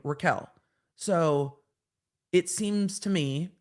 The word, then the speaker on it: Raquel: names I just she's Raquel but it says Rachel I don't think you can pronounce r-a-c-h-e-l as Raquel but maybe you can maybe just it's just me so Raquel Rachel the